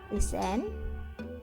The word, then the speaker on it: listen: Silent letter yang kedua yaitu huruf T yang tak terbaca dengan syarat diikuti huruf CH atau didahului huruf S. Contohnya catch, street, reach, dan juga castle, listen, Christmas.